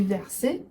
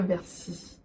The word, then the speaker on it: verser: Chaque fois que je dis verser, je vais dire versi.